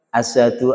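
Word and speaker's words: أشهد: Itu kalau salah pengucapan. Asad itu maknanya singa. Asadu singa. Maka kita ucapkan asyhadu gitu ya. Harus latihan itu. Asyhadu bukan apalagi asad.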